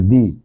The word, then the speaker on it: the: তার পূর্বে যে দিটি বসবে সেই দি এর উচ্চারণ হবে দি অর্থাৎ ভাওয়েল এর আগে যে দি বসবে সেই